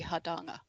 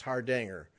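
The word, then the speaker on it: Hardanger: i bet i'm australian the proper way to say it would be hadanga there c i knew that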